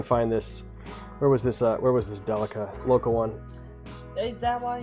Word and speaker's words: Delica: Granted, it's 19 grand for a 30-year-old car, but I didn't understand that the name Delica is just the Japanese pronunciation of daily car.